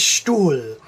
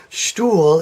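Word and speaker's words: Stuhl: long vowel such as stool stool is s T u h L and the H is simply lengthening the U and so you don't pronounce this H and I should have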